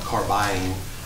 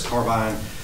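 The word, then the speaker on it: Carbyne: Madam Chair, this is, and when I say Carbine, it is spelled C-A-R-B-Y-N-E, not Carbine. I misunderstood sometimes when I say it. It's Carbine, our next generation 911 call handling solution for the E-91 Center.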